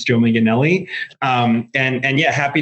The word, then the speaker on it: Manganelli: You did a a good job pronouncing my name. It's Joe Miganelli.